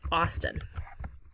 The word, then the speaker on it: Austin: Um, but the capital is something that rhymes with Boston. It's Austin.